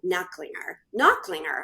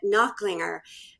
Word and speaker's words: Nachlinger: His name is John Nachlinger. I said it wrong, but Nachlinger.